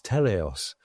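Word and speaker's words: Teleios: Uh which is that they've given it a lovely name which is Telos. Uh it is spelled with T E L E I O S and it's a Greek word meaning perfection.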